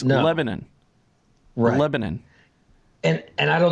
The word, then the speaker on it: Lebanon: there's a Lebanon Missouri yes but you don't pronounce it say lemon it's Lebanon Lebanon and and I don't know if the